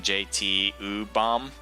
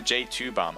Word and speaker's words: J2Bomb: Because I think I was saying JT-U-Bomb, which now that just makes no sense. But even J2Bomb, I don't get it.